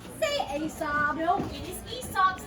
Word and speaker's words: Aesop: I've always heard that it was It Aesop. is proper to say Aesop. In Latin, it was Aesop.